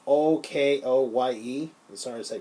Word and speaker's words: Okoye: Then there's Okoye, or Oko. I'm sorry to pronounce Oko. It's Okoye.